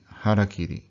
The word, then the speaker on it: harakiri: That's harakiri. Harakiri. Forget what people have said in English. It sounds nothing like that.